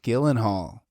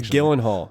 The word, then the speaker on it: Gyllenhaal: his face Jake Gyllenhaal Jake Gillen Hall is how you also known as Gillen Hall I think I think I heard him pronounce it and he said Gillen Hall also in day after